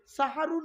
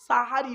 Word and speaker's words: সাহারি: আর সিনে জবর দিলে দন্তের সঙ্গে আকার দিলে সাহারুন মানে হলো রাতের শেষ অংশের খাবারকে আরবিতে সাহারি বলে তাহলে শব্দটা কি হবে সেহরি না সাহারি ভুলটা ভাঙলো চলুন আগিয়ে